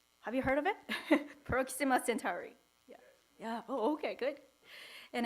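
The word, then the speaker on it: Proxima Centauri: Cent Centaurus yeah have you heard of it Proxima centuri yeah oh okay good and it it's said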